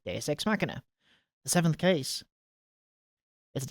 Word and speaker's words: Deus Ex Machina: there we go D DSX maer there we go DSX maer that's how you say it DX smer the seventh case is